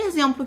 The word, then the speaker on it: exemplo: Quando a gente fala a palavra exemplo ou a palavra exame, essas palavras são escritas com X. Mas o som que a gente pronuncia quando a gente fala é de Z.